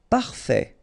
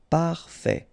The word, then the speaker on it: parfait: Parfait, final T not pronounced, parfait, parfait.